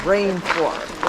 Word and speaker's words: rainforest: Rainforest. Rain. Accent on the rain.